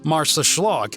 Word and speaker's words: Marsaxlokk: This fishing village's name might look like a mouthful, but it's not too bad once you realized it's pronounced Marsaxlokk and translated to southeastern port.